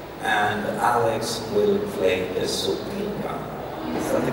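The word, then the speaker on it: sopilka: Vova will play the accordion, and Alex will play the supinka.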